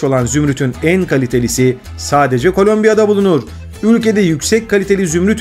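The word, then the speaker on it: Colombia: yandığı bir konuda var Özellikle İngilizce telaffuz yapanlarla ilgili kolumbiya değil Kolombiya diyorlar Neyse ki Türkçede böyle bir sıkıntımız bulunmuyor kolombiya'da herkes ve her şey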